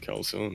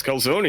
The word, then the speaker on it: calzone: like sure i mean i'm gonna keep calling it calcium it sounds better to me but it's calzone it's called sony anyway we are now